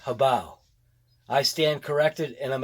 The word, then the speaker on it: HoBao: Yeah, it's actually pronounced HoBao.